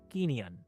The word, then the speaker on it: Kineon: So, Forrest Smith is a CEO and co-founder of Kineon. Am I pronouncing correct? That's correct. It's the from the Greek for movement.